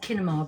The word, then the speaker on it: kinema: And it's pronounced kinema because it's with a K.